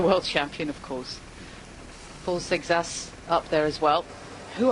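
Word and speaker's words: Seixas: Sexas is what the French colleagues say, so I'm just going with that.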